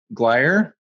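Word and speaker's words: Gleyre: with was uh uh charles glier which is spelled g-l-e-y-r-e charles glair and whoops this is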